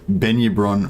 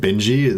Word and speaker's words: Benyabron: How about we call it Benyabron? We're not gonna pronounce it Benji. Like the J is gonna be, it's gonna be a soft J in her name, so it's gonna be Benyabron.